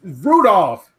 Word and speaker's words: Rudolph: No, you didn't even say his name right. On Thursday, we gonna see what he looks like. His last name is Randolph. It's Rudolph. Rudolph?